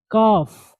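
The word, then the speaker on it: calf: Brain दिमाग, काफ, काफ इसको L silent पढ़ेंगे, काफ पिंडली।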